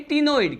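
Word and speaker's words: ctenoid: हैं, इसे कहते हैं टिनोइड। क्या कहते हैं इसे? टिनोइड कहते हैं। यहां पर सी क्या है, मैंने कहा यहां पर सी साइलेंट होता है।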